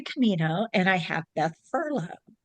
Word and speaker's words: Furlong: So I have Hilary Camino and I have Beth Furlong. Furlong.